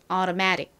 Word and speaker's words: automatic: automatic. 이 어떤 부분이 강조가 되고 있나요? automatic. 매 부분이 강조가 됩니다.